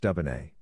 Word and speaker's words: Dubonnet: A wine-based aperitif is called Dubonnet, which is pronounced Dubonnet.